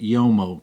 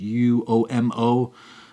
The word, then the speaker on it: Uomo: Next fragrance I wanted to tell you about really quick also is called Uomo Ferragamo Signature, and I used to pronounce it Uomo because it's U-O-M-O, but it's pronounced Uomo.